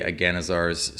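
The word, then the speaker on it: Agannazar's: spell is aganazar's scorcher i don't think there's anything in the balder's gate universe that will tell us how to really which syllable to emphasize in aganizars and agonizers i say aganazar's scorcher i'll just read the spell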